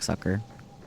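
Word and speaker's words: succor: I'm not familiar with suer suker suker sucker sucker it actually is pronounced like sucker wonderful then I've had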